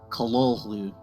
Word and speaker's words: Cthulhu: Lovecraft pronounce this word? Well, the short answer is Cthulhu.